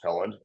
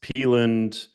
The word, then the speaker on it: Pelland: show I am Pand um I pronounce seeing your last name right dude you you nailed it uh usually it's peand paland or people would just think that the N is an R so it's so like